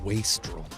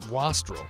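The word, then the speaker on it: wastrel: By the way, I realize it's pronounced waistrol. I am honorbound, however, to pronounce it Wasl because in 1997 I did not know the proper pronunciation.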